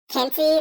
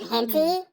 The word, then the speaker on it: Kenzie: mispronounced my name wrong they said instead of saying kenzie they said hinty and i just thought